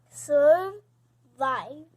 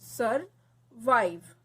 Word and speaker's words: survive: This syllable comes in magic E part. Okay. That's why it is not sounding. E is not sounding. And I is saying its name.